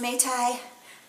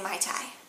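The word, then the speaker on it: mei tai: use the terms interchangeably I think that it's officially pronounced mate I but a lot of people say my tie yes will go okay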